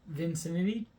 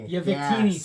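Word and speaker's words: Victini: So there's a red um vincity. I'm pronouncing it incorrectly. I'm very bad at pronouncing that one. um card in it and it's a red holographic. I I Vikini.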